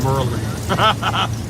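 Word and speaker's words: Maryland: a little East Coast dial lesson for all pronounced Merlin that's all right uh where I'm from everyone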